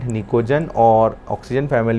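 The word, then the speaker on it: pnictogen: Group number 15 जो है उसको बोला जाता है निकोजन, पी साइलेंट निकोजन, और ऑक्सीजन फैमिली है उसको बोला जाता है बेटा चाल्कोजन।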